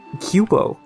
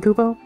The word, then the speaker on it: kupo: house left extreme danger kubo or as this one particular instance of mog pronounced it cubo which is wrong that's incorrect huh a caravan or